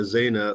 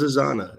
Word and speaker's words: Zana: the first time and she makes sure it's not a zaina or a xena or some other thing but it is asana and her identity is